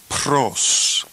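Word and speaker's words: πρὸς: We will pronounce this word pros. Pros.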